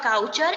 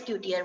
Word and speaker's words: couture: It is not couture, it is coutier.